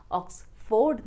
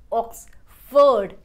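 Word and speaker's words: Oxford: Or use Oks-ford dictionary, it's not Oks-ford but Oks-ferd F o r d will be pronounced as Ferd here Last but not least,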